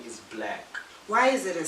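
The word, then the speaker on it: 6lack: His name, you're not wrong for pronouncing it 6 Lakh. Is it black or 6 It's Lakh? black.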